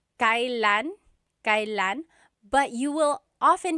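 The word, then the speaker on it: kailan: It's pronounced kylan. Kylan, but you will often hear it pronounced Kellan.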